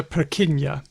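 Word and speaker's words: Purkyně: Well, in this case, no. It's spelled Nje, but it has the ñ sound. Okay. Named after Jan Evangelista Perquiña.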